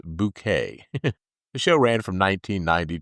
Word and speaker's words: Bucket: Uh she was best known for playing the snobby sitcom character H highestin bucket which that character always insisted that you pronounce bouquet.